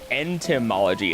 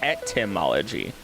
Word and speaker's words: etymology: It's not even entomology. It's etymology. No N.